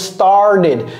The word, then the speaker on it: started: à la fin et ça se prononce started started I started donc ce t c'est comme un D et un T mélangé si un T et un D avait fait un enfant là si je voulais